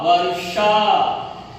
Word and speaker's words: वर्षा: ये हल्लंत रहने के कारण इसको आधा कहते हैं, और इसको इसकी ध्वनि, इसका उच्चारण भी रु के तरह करना है, ध रु म धर्म, व रु शा वर्षा, द रु प न दर्पण।